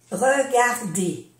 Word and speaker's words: regarder: Aquí tenemos otro ejemplo. R de un verbo se pronuncia E. Regarder.